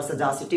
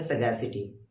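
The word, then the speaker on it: sagacity: देखिए इसे ना सर सगैशिटी भी पढ़ा जाता है और सजासिटी भी पढ़ा जाता है, लेकिन याद रखिएगा हम लोग पढ़ेंगे सगैसिटी, क्योंकि इसका सही प्रोनाउंसिएशन होता है सगैशिटी, सगैशिटी।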